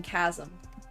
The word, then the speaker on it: chasm: Oh, why do you pronounce the ch in church but you don't pronounce the ch in chasm?